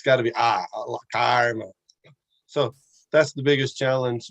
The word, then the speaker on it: karma: Sanskrit or Hindi language is the difference between the long A and the short A, especially if it's followed by an R. Right? So what is that? When you action and reaction, the Karma, how do you say that?